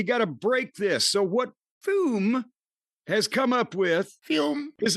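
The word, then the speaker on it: Füm: You got to put see, it's pronounced, it's spelled FUM. F-U-M. But you got to put the umlaut, the little drava there over the U, and it becomes Fume.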